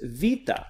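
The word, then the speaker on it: βήτα: academic pronunciation says Alpha Beta Gamma Delta Epsilon modern is alpha v Tehama felt the epsilon so this is vita looks like a bee but has a V sound so it's vita the next here is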